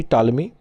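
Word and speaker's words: Ptolemy: पता ही है आपको इसके लेखक टॉलमी है और आपको पता है कि प यहां पर क्या होता है साइलेंट होता है इनके नाम में ही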